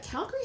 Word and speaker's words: Calgary: had that talk today did you know that we pronounced it wrong so what if you're a native to Calgary like if you're its cow grease it's Calgary if you come it you all will always know some of you comes from outside of calorie because I say Calgary yeah and that is actually the proper pronunciation bite your tongue no it's true that is the name of the place in Scotland it's our namesake Calgary